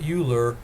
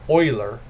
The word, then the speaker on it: Euler: graduate classes where i finally heard the right pronunciation it's not euler but euler euler's e and that's going to be a